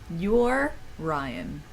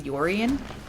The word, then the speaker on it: Yorian: I don't think, because like it's spelled like Orion, like the constellation, but with a Y in front of it. So your Ryan, but I feel like it should be Yorian, because that's just like more how it's They're spelled.